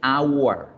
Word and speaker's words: hour: Hay ocasiones en que la H no suena, como sucede en español con la palabra hora. Y se escribe con H, pero lo que suena es la vocal O, hora. Lo mismo sucede en inglés.